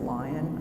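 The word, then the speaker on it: LAION: think it's called lion l-a-i-o-n it's pronounced lion I call it Lanyon but it's lion also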